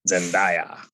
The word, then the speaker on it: Zendaya: did i say her name right yes okay zendaya yeah um well yeah so anyways it's 2022